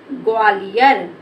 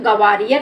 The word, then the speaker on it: ग्वालियर: लो लिख दे हम ग्वालियर ग्वालियर यह हमारा हो गया ग्वालियर इसको गवालियर नहीं पढ़े बेटा इसको पढ़ेंगे ग्वालियर तो ये हमारा हो